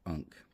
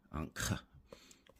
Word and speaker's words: ankh: Here, this one's pronounced differently a lot. Some people just say ha, but you see this symbol in the word ankh, which ends k, ankh.